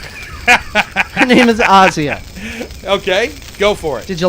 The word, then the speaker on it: Asia: by the way folks it is pronounced Asya it's not Asia she's not a continent Asya okay Goforth did you